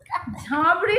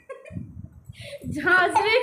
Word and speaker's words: ঝাঁঝরি: ঝাঁবড়ি নয়, ঝাঁঝরি করা বেরি হাতা।